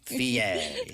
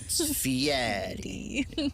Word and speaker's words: Fieri: He gets pissed off if you don't say it right. I heard that, and he only really started trying to force people to say it the Italian way, like halfway through his career.